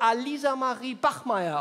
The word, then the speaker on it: Alisa Marie Bachmeier: Ali Samari Bakmacer? Ah, Sie meinen vielleicht mich, Herr Schröder. Aber mein Name wird Alisa Marie Bachmeier ausgesprochen.